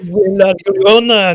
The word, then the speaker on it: La Llorona: oh Sorry, no, man, la Llorona, no. yeah. Sorry, Yeah. I'm too white to pronounce her name.